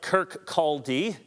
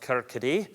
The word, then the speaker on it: Kirkcaldy: He was born in 1723 in a Scottish city that looks like Kirkcaldy, but I believe it's pronounced Kirkcaldy, a small town on the Firth of Forth.